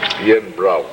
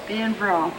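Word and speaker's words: Beinn Bhreagh: Bill named his summer refuge Bain, pronounced Ian Brow. Ian Brow, for beautiful mountains.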